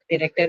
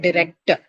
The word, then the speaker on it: director: Now, all of them are going to be marked on the first syllable, right? Director. Okay, not director. It's a director.